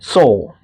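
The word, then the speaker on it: Sól: Soul pronounced like the English word soul.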